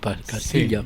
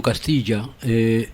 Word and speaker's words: Castilla: Entre otras cosas se debe pronunciar Castilla con ella, ¿no? Con ella, Castilla, sí. No Castilla.